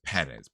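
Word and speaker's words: Pérez: see sorry when there Accent on the E supposed to you supposed to emphasize the e that's Perez Perez I'm sorry if I'm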